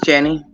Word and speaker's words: Jenny: I meant to ask you, are we pronouncing it? Is it Jenny or Jeannie, or is... It's Jenny.